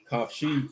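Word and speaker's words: חופשי: This how you say your name in Hebrew. Free. Kafshi. Kafshi. That's free.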